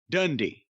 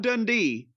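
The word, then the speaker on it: Dundee: pronounced his name any other way than Bill dundy not dunde dundy and teeny said it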